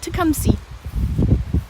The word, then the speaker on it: Tecumseh: But I just searched, and you're right, Tecumseh.